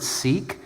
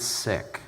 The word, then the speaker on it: Sikh: Some people pronounce it Sikh, but actually they pronounce it Sikh.